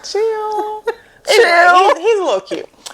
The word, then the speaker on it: Cyhl: But his name is spelled Cyhl. So I was like, Cyhl, chill.